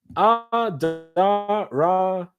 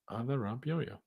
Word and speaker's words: Adarabioyo: Tosin's surname can be pronounced easier by trying Adarabioyo. Adarabioyo. Fast. Adarabioyo.